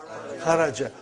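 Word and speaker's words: خرج: Say it properly. Kharaj. With sukun. You won't say with? You will say kharaj.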